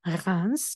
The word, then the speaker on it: Reims: el de la capital se llama rans se escribe rames y en reims se